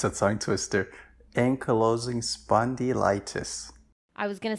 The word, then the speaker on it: ankylosing spondylitis: wrong yes that's that's it's a tongue twister ankylosing spondylitis i was gonna say anki losing yeah um yeah so how how old were